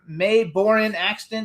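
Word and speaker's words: Mae Boren Axton: So you guys also has a famous grandmother May Borin Axton. Did I pronounce it right?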